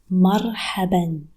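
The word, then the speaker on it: مرحبًا: Marhaban. Notice an alif at the end of the word that it is not pronounced.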